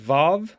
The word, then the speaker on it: vav: vowel ah next is vav which is a consonant is a v sound as in victory but it can also